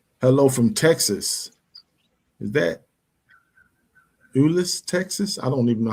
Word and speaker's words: Euless: That's how you pronounce that city. Euless, Texas. Got you. Well, welcome. Thank you for being with us. I've never heard of Euless, Texas. She spelled it YOU/less. I was like, okay, I can pronounce that.